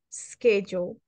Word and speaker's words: schedule: Schedule. So to pronounce schedule, Let's do this. Let's make the pronunciation of the S. Repeat. S. Schedule. S. Es. Solo el sonido de la S. Schedule.